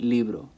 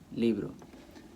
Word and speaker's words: libro: helps you identify that since it ends with an O the stress is gonna have to go on the second-to-last syllable all right li libro and that's how you get libro that's how you pronounce